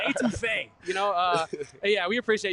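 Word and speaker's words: étouffée: etouffee. I'm just putting y'all on something. You feel me? And you know he's really about it because he went French with the pronunciation. he went etouffee.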